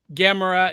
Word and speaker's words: Gamera: again or Gamera guys Gamera is how I pronounce it that's how they pronounce it in the the Japanese because I watch all